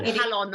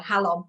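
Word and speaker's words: Jalón: So it's spelled, just so people know, it's Jalon, that Halon or Halon Valley. Yes, yeah, Halon, yeah.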